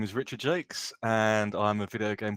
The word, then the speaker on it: Jacques: people have different ideas it's pronounced Jake's okay gotcha okay cool